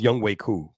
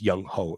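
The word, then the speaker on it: Younghoe Koo: It's pronounced Young Wei Koo, but when you read it in English, it says Young Ho. It sounds like a Young Ho.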